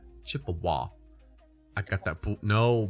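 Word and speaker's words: Chippewa: And it's pronounced chip awa. Chip awah.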